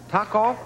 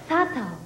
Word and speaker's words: Sato: Taco? Sato. No, S. Sato.